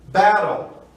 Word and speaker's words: battle: Então temos battle. O T passa a ter som de R e uma palavra de 2 sílabas.